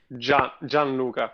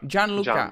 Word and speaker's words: Gianluca: So I was just talking to Jill, and now I'm talking to how can I pronounce her name? It's Gianluca. Gianluca.